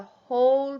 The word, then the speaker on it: whole: hole in the ground the hole with the silent w at the beginning is the full part of something like the whole pizza or the whole